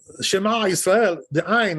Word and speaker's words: Shema: Shema. Right? That's right. Not Shema. That's no good. Well, you know, like an A sound, you know? Shema. No good. They're putting the accent on the first syllable and not Also at the true, end.